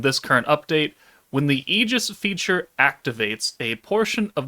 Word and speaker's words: Aegis: I'm going to say Eegis because it reminds me the Eegis Gundam from Gundam Seed. And if someone wants to tell me it's pronounced differently, well then too damn bad.